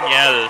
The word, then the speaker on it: Niel: It's ano it's actually Niel So parang you pronounce it like Daniel yeah ah yeah yeah